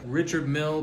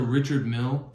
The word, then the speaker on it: Richard Mille: Richard Mille Blue Mask.